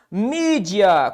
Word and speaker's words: mídia: Mídia. Qual a sílaba tônica de mídia? A penúltima. Então, é uma paroxítona.